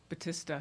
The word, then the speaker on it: Batista: Batista, he pronounces it. Potato, potato.